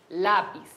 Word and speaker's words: lápiz: Las palabras graves tienen acento en la penúltima sílaba. Por ejemplo, lápiz.